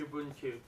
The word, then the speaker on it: Ubuntu: i can't pronounce it probably you be uh pronounce it for me please ubuntu that's it your boon tube ubu just look